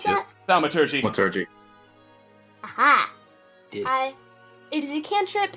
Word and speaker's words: thaumaturgy: How do you pronounce that? Thaumaturgy.